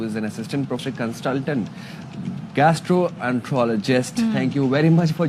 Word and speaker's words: gastroenterologist: Hasan Memon, who is an assistant professor consultant gastroenterologist.